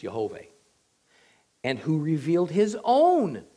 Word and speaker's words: Yahweh: Again, Yahweh, or I believe it's Yehovah.